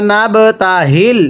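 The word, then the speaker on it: نَبْتَهِلْ: এরপরে সুম্মা নাবতাহিল, সবাই একসাথে পড়ব, পড়ুন। সুম্মা নাবতাহিল, এই গোল হাগুলো উচ্চারণ করার সময় গলার মধ্যে একটু আওয়াজ করে পড়বেন। অনেকেই নাবতাহিল এরকমভাবে পড়লে পড়াটা সহি শুদ্ধ হবে না।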